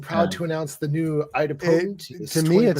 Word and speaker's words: idempotent: Idempotment? Idempotent.